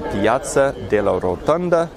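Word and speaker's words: Piazza della Rotonda: this is Enoch Sears signing out from the Piazza de la rotunda that's how you say it and wishing you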